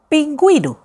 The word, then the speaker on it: pingüino: I'm pronouncing now the vowel U, la vocal U, because of the dieresis. Por ejemplo, antigüedad, antigüedad, gue, guedad, antigüedad. Pingüino, pingüino.